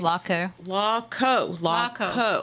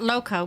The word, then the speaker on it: Laco: It's Laco. Laco. Bike rally and bike show. Not loco, but Laco.